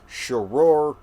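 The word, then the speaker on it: Sharur: So the second weapon up for discussion today is Shoror. I think that's how it's pronounced.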